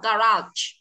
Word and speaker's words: garage: Nhưng trường hợp này nó lại rơi hai, nó đọc là garage, đấy, chưa?